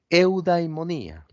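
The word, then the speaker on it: εὐδαιμονία: sobre la mesa nuevamente el concepto que se pronuncia en griego eudaimonía así como lo escuchan monía que significa felicidad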